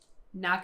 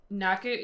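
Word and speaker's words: nakke: you say it because Naka it's like you don't really pronounce the k as much it's not as yeah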